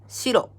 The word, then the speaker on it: 白: And this kanji is pronounced shiro in Japanese.